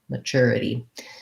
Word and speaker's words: maturity: the flap right um the t u in this word sounds like a c-h-e-r like a cher um uh and then ma this is we have second syllable stress so the m-a and this word doesn't say a sound like an a it says the schwa so charity maturity um i